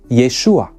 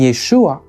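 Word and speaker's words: ישוע: an ancient Hebrew speaker these were really just two different versions of the same name yahushua was the more original and longer form of the name and Yeshua was a shorter and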